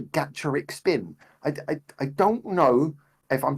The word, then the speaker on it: Gacharic Spin: It comes from gacha as in like the gachapon machines, so it's Gacharic Spin, which makes sense as well for the spelling.